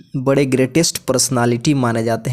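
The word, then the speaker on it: Goethe: जी हाँ, गोथ लिखा जाता है, लेकिन अगर आप इसे प्रोनाउंस कर रहे हैं तो इसे गर्टा कहिएगा।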